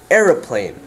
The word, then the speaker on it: aeroplane: word like aeroplane so you have e-r schwa era pl a with the macron so a and then n aeroplane does that make sense